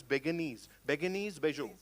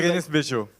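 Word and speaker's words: Bérénice Bejo: How do we pronounce the name of the actress? Beguenese, Bejo. Berenice. Yeah. Yeah. Yeah, that was Berenice Bejo.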